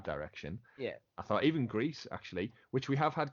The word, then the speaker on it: Gris: of How It's pronounced the developers have confirmed it is uh Gris but they all say Greece yeah so Greece is